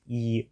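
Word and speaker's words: 一: in this straight line horizontal line is e which is just the number one there are 8 minutes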